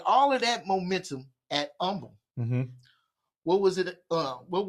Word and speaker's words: Humble: You're coming from Humble High School, where you were the associate head coach, offensive coordinator, and recruiting coordinator. At Humble, you helped. I want the humble. It's the H is silent. Humble.